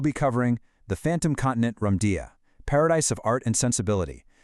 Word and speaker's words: Lemuria: But the spiritual reading claims the actual, authentic, ancient pronunciation was actually much closer to Lamudia.